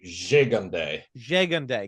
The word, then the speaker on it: Gigandet: It's Gigandet? More stink on the first G. Gigandet. Cam Gigandet.